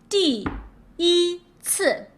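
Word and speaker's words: 第一次: CI, you have to focus on the C because it is one of the special 7, so you have to ignore the I.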